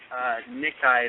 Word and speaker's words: Nikkei: the Dream Project scheme, according to Nikkei, is how you say it, N-I-K-K-E-I, Nikkei.